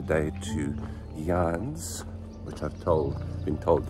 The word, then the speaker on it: Llanes: are have got a 23 K day to Yan which I've told been told that's how you